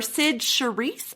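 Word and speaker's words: Cyd Charisse: wizard of oz or sid cherise i believe is how you pronounce it she was the memorable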